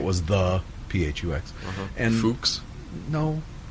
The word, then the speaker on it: PHUX: And Fuchs. no. No, PH sounds like F.